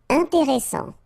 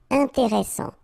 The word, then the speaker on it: intéressant: Intéressant. Double S, same thing here. S, strong, and it opens the pronunciation of your E. Intéressant. Final T not pronounced.